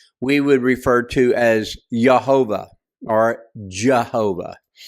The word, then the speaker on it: Jehovah: would refer to as Jehovah or Jehovah. The J is typically pronounced with a H sound.